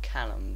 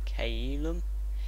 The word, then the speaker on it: Caelum: That's not how you pronounce it. That's not Callum, but Caelum.